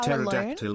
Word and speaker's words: pterodactyl: can't you hear a pterodactyl in the bathroom because the P is silent.